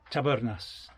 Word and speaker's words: Tabernas: Did you notice I'm rolling me R? That's the way you're supposed to pronounce it. Tabernas.